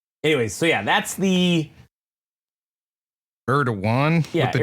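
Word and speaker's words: Erdoğan: It's Erdogan. Erdogan? Erdogan is how you say it.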